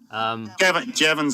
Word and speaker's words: Jevons: Jevons, I think it's pronounced Jevons. That's what she said. Rhymes with heavens.